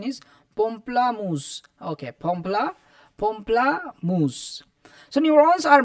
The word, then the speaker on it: pamplemousse: The correct pronunciation is pamplemousse.